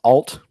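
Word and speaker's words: Allt: It is spelled A-L-L-T, so I assume it's alt. That's what I'm going with, yeah.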